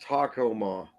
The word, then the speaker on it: Tacoma: pronounced Tacoma.